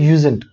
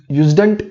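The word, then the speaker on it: usedn't: यूज्ड नॉट इसको pronounce करना है यूजेंट. ओके, यूज्डंट नहीं बोलना है, यूजेंट.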